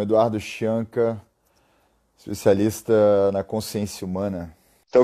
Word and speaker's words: Chianca: É assim que pronuncia mesmo? Scianca? Scianca.